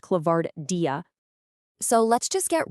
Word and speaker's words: ClavardIA: That's pronounced ClavardIA.